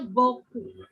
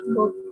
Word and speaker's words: beaucoup: Tulisannya neo cowok tapi bacanya beaucoup. J'aime beaucoup. Mubazir, Madam. Iya. Enggak juga sih. Tapi memang dari sananya gitu. EAU dibaca O, OU dibaca U. Beaucoup.